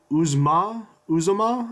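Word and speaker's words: Uzomah: Brandon LaFell CJ CJ oozma Zuma I believe it's how you say it among other players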